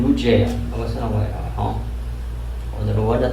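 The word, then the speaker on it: לוז: 야곱과 그와 함께한 모든 사람이 야곱 집안의 모든 사람이 가나안 땅 루스 곧 베델에 이르고 그러니까 베델의 이전 이름은 루스죠. 루스는 제대로 발음하면 루즈예요.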